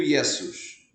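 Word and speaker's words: Ἰησοῦς: aparece aqui é que Yeshua do hebraico passou para o grego yesos yesos latim yesos exatamente o mesmo som yesos e em Português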